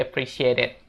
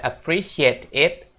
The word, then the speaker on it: appreciate it: you dan I really appreciate it? Kalau kamu tahu, coba tulis di komentar ya guys. Dan untuk pengucapannya seperti biasa, jangan dibaca appreciate it, tapi disambung ya guys.